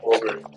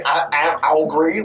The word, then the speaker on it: augury: I never wanted to say algry, like angry.